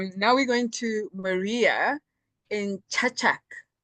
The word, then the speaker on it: Čačak: Now we're going to Maria in Čačak. Did I pronounce that correctly? Yes, Čačak. Actually, it's Čačak. Thank you.